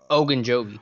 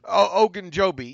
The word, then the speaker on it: Ogunjobi: And Larry, how do you pronounce Larry's last name? Ogunjobi. Ogunjobi.